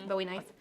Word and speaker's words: Bowie knife: and then middle students are learning about a Bowie knife is that how you say it yeah Bowie knife um sure and then you learn a story